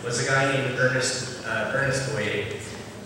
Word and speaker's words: Boyer: a guy named Ernest Boyer, although he pronounces it Boyer, American pronunciation, but it's Boyer.